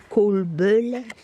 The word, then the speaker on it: kolbulle: Puis comme c'est des vidéos sans parole, bon, ben moi, ma connaissance du suédois est assez limitée, mais je pense que ça se prononce kolbulle.